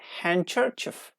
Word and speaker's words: handkerchief: to here handbag and it has definitely disappeared in handkerchief handkerchiefs widows handkerchief handsome